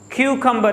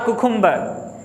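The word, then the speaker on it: cucumber: क्यूकम्बर, नॉट अ कुकुम्बर। Many people pronounce a कुकुम्बर, नहीं क्यूकम्बर, ठीक है।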